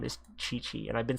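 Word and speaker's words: Qiqi: know her i know this girl's name is chi chi and i've been saying kiki i don't know why i've been saying kiki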